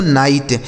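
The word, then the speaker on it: knight: इसे पढ़ते हैं दोस्तों नाइट। के एन आई जी एस टी इसे पढ़ेंगे नाइट। नाइट। देखिए के साथ एन है ना इसलिए के साइलेंट है।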